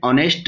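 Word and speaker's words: honest: उसके बाद एन ऑनेस्ट मैन, ऑनेस्ट में भी देखिए एच ओ एन, इसमें ऑनेस्ट, तो एच की साउंड साइलेंट है तो वावल साउंड आ रही है, इसलिए एन लगाया गया।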